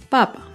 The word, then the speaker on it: papa: En este ejemplo, la primera palabra, papa, no tiene tilde y el acento está en la primera sílaba, papa.